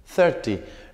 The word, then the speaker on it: thirty: thirteen y sharp y fíjense ustedes la pronunciación como acá tiene el acento y acá no hay acento es karting 13 sarchí 30 thirteen thirty no es lo mismo